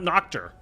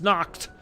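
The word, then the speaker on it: Nacht: German language by saying Nocturne is not noctor it's knocked like you're saying naked dead or naked of the undead or whatever like I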